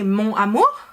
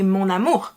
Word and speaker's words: mon amour: smoother and better so we don't say mon amour we say monamor it's kind of fused together and here you can